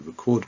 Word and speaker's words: record: doing that now to record my voice but the stress is on the second syllable okay so the words